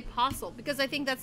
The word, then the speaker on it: Postle: T or you yeah I don't pronounce the T okay I just say posle because I think that's